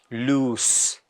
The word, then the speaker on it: loose: what are these words l-o-s-e lose and L double o s e loose loose l-o-s-e that is lose L double o s e that is loose loose loose so we can